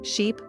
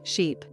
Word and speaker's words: sheep: But here's the catch, ship has a short I sound, I, like in sit or bit, while sheep has a long e sound, I, like in see or sleep.